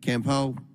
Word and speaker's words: Campo: federal government by Campo. Pronounce that for me. It's Campo, sir.